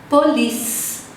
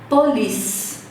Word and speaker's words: police: Police. Então, o E e o C é como se não existissem. Olha a pronúncia. Police.